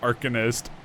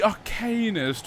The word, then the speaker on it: Arcanist: me pronouncing everything wrong I still think it's artific or an archinist but maybe that's an American way of pronouncing it it's The Arcanist and the she doesn't